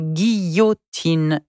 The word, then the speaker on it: guillotine: the sound is a u sound yeah so gi yo tin is the way we pronounce that word guillotine yeah how do you spell it let's just